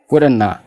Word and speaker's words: wouldn't have: Not kan jedhu kun maaliin bakka buuti? Spellingi n jettuun bakka buuti. Have kan jedhu kun immoo alfaabeetii a jedhuun bakka bu'u jechuudha. Meen oliin jedhaa wudhannaa jennee pronounce goona jechuudha.